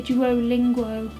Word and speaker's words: Duolingo: Sometimes I say Duolingo, but it's Duolingo, which I'm sure you've heard of.